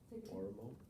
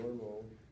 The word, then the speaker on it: Oromo: Oromo?